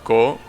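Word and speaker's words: 子: Like the one that is pronounced ko.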